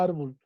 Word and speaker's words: árbol: ¿Por qué lleva tilde la palabra árbol? Porque por la sílaba tónica que se escucha más en ar.